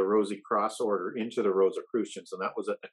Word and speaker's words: Rosicrucians: Sorry, I don't know how, I still haven't learned how to pronounce Rosicrucians.